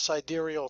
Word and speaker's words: sidereal: real fast, like they'll come up with this sidereal time, which is actually the correct way to pronounce it.